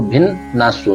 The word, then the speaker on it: भिन्नासु: तो गुण भिन्नासु, भिन्नासु डबल एक बार आधा नए फिर पूरा नए, आ की मात्रा और सु है, तो हमको भिन्न नासु। तो जब आप इसको बोलेंगे, लेकिन ले के साथ में बोलेंगे तो उच्चारण करेंगे भिन्न नासु।